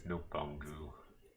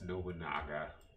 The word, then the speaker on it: Nobunaga: In 1571, Oda Nabangu, because that's what I call him, is Nobangu, even though it's Nobunaga.